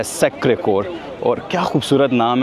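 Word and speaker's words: Sacré-Cœur: अब ये आपने ज़हन में रखना है कि मैंने सैक्रेड कोर नहीं कहा, ये सैक्रे कोर इसका जो प्रोनाउंसिएशन है।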